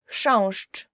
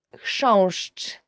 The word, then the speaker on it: Chrząszcz: Chrząszcz, beetle. So the first word is, and I promise you this is the most difficult word you will ever learn in Polish, as for the pronunciation, is chrząszcz. I will just say it again.